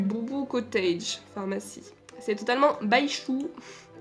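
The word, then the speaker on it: Baizhu: Ça s'écrit avec un Z. Hein. Pour ceux qui savent pas, je crois qu'en chinois, le Z ça se prononce ch. J'ai fait un peu de chinois il y a longtemps, mais je crois que c'est ça.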